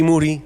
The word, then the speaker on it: Moody: Moody, last name rhymes with Duty, he went to Erasmus, I went to Erasmus.